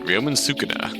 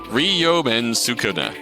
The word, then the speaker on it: Ryomen Sukuna: Can someone please tell me how to pronounce that? Ryomen Sukuna. Sukuna. So hard to read. So hard to read? Tough one for sure. Ryomen Sukuna.